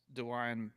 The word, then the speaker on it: Dewayne: I mean I wish Dewayne McNeely and this is not us going extremely West Texas saying Dwayne with like an extra syllable it's it's like Hawaiian but with a D yeah cool I like